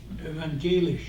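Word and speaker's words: evangelisch: for the church body that's you know luther evangelish. Did I pronounce that roughly right Dave? Evangelish.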